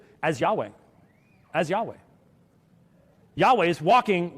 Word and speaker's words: Yahweh: of the matter is, if he's Yahweh, Jehovah, as they mispronounce it, that's the end of the debate.